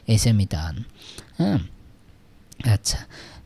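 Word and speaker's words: mitään: এইখানে দেখেন এই যে ডাবল ভাওয়েল আছে, তার মানে উচ্চারণটাও একটু, স্ট্রেসটাও একটু ডাবল হবে, মিতান, হ্যাঁ, মিতান মানে এই সেমিতান, হ্যাঁ।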